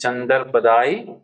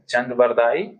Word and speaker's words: चंदबरदाई: तो पहला उत्तर है चंद चंद्रपदाई। चंद चंद्रबरदाई उच्चारण में गलती हो गया। चंदबरदाई दूसरा है अमीर खुसरो